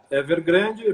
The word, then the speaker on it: Evergrande: Enfim, foi realmente um efeito bastante forte, né, no futebol chinês, o que ocorreu no Evergrande. A pronúncia é Evergrande mesmo, que vocês chamam lá? Evergrande, porque Guangzhou é a cidade, como você viu.